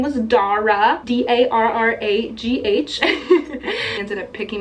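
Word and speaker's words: Darragh: Google to make sure I knew how to pronounce it but that's how I learned his name was Dara d-a-r-r-a-g-h she ended up picking me up the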